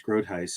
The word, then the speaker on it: Groothuis: It's is easy, but it's Groothuis. It's a Dutch name.